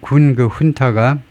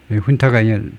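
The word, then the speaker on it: junta: 사령번은 너무 얌전한 말인데에 그 그 군타가 훈타가 그 라틴 계통에서 나온 단어를 겁니다. 그래서이 제를 준이라고 안 하고 후발음을 그 군사 그 훈타가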